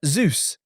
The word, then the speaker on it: Zeus: You You were saying Zeus like juice. You were saying it with a J. Zeus. No. Zeus. Zeus. How? I don't know why you can't say this. Z like the letter Z.